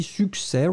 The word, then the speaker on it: succès: And finally, succès. Remember that you don't pronounce the final S, but then it should definitely be there because it's un succès.